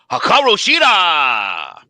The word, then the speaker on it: Hikaru Shida: I will take the champion, Hikaru Shida.